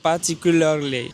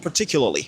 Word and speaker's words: particularly: Particularly. C'est bon, c'est correct, c'est bien prononcé. Alors, lorsque les Américains sont en train de parler, contextuellement, vous allez entendre quelque chose comme particularly.